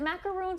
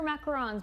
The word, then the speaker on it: macarons: Is it macaroons or macarons? Because a lot of people disagree on how to pronounce it.